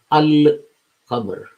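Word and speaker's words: القمر: But if you put Al in front of it, and you combined Al and Qamar, then you will say Al-Qamar or Al-Qamaru. You notice the fact that Al is pronounced in full.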